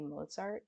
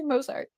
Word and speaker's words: Mozart: You threw me off because you say Mozart differently than me. You say Mosart. You say Mosart, but everybody I know says Mozart.